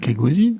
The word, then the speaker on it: Kegosi: comment on le prononce, Kageosi, Kogzi, comment vous le prononcez? Kegosi. Kegosi, voilà, comme ça du coup.